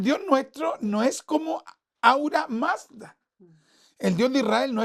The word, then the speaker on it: Ahura Mazda: Ahura Mazda. Ahura Mazda, gracias, Paz. Entonces, Ahura Mazda. Es con H, pero se puede pronunciar J.